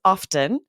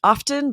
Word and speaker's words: often: pronounces the T like you, she says often, and so Interesting.